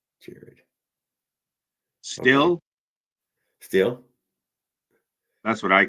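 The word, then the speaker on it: Stihl: power tools yeah uh steel chainsaw is pronounced steel chainsaw Jared still still that's what I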